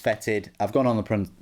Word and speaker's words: Foetid: was told in a previous video that it's pronounced fetid I've gone on the pronunciation and things like